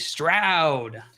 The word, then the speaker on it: Stroud: The answer, the secret, was CJ Stroud. Cloud rhymes with Stroud. Cloud does rhyme with Stroud.